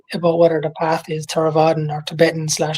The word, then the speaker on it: Theravada: Okay, Theravada.